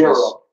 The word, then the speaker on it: gyro: Euro. Yeah, The way I've heard it pronounced is euro.